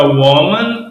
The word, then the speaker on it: woman: Então, aqui fica woman, o O pronunciado como O mesmo, aqui é pronunciado como um I, né?